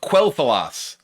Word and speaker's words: Quel'Thalas: I always just pronounced it Quel'Thalas. I always thought that was just not pronounced with the Q sound. It was pronounced with like a K sound, Quel'Thalas.